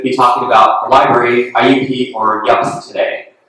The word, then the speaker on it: IUP: I'm going to be talking about the library, IUP, or YUP today. I learned last year at this workshop that it's pronounced YUP.